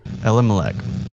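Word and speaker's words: Elimelech: i say his name uh lm malik okay ella malek and i thought i would tell you and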